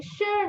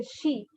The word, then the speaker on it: shi: And SHI is pronounced as sure. There's a little R sound. Do not say she.